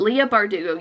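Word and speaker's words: Leigh Bardugo: i don't know if i'm saying it right leah bardugo i am saying it right it just seemed wrong for some reason but leah bardugo yes i have a meaning to read these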